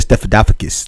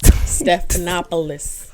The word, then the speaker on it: Stephanopoulos: name again george stephanopoulos you said stephenpocus stephanopoulos so he's in the room